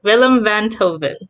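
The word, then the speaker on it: Willem Einthoven: you to a thing it said willem van toven yeah that's what it's willem van toven that's how you pronounce his name according to that that's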